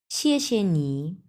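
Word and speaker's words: 谢谢你: আচ্ছা, প্রথম অংশটা হচ্ছে 4 নাম্বার টোন। সো আমরা উচ্চারণ করব শিয়ে, এবং পরের যে অংশটা দেওয়া আছে এটা হচ্ছে নিউট্রাল টোন, মানে কোনো টোনই নেই।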